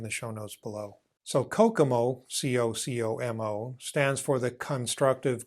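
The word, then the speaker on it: COCOMO: A while ago, Barry Boehm created a tool called Kokomo. Yeah, it's pronounced like the Beach Boys song, but it is unfortunately not a Caribbean island where you can go to get away from it all.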